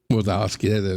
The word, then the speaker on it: Wazowski: Wazowski.